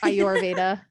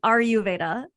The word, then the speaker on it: Ayurveda: i normally say it she says are you veda are you veda i your veda i've been saying it